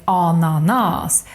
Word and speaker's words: ananas: For example, the word ananas. This should be pronounced like ananas, but it's not because it's a borrowed word, so we just keep it like it is, and it will break the normal Swedish rule.